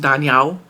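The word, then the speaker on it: 大鸟: just weird and um big bird in chinese is pronounced daniao which she thought was danielle which is her name so like she thought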